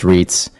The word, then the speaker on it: REITs: real estate investment trusts or REITs pronounced REITs are companies that own and